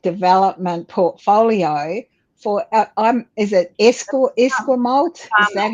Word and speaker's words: Esquimalt: You're actually now setting up and establishing a brand new economic development portfolio for, is it Esquimalt? Is that how you say it? Esquimalt.